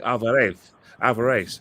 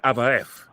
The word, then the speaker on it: Alvarez: So like for instance, like in Argentina, Mexico, they say Alvarez, but in Spain they say Alvarez.